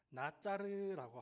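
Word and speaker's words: נֵצֶר: 여기서 이제 한 가지가 나서이 부분에서 가지이 가지라는 단어를 히브리어 원어를 보면은 나짜르라고 하는 단어예요. 이렇게 그 나짜르라고 발음을 하거든요.이 나사렛이라는 말은 한국식 발음이에요.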